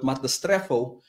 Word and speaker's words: metastrepho: And the word perversion comes from the Greek word metastrepho. Let me just spell that for you.